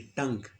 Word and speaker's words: tongue: Spelling में ओ आ रहा है TONGUE, लेकिन आवाज़ हमें शॉर्ट यू की आ रही है, टंग।